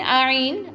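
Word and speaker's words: ع: Ain. Ain pronounced from the middle part of the throat like this.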